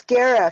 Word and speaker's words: Guerra: You said it right the first time. It's Gara, Gara.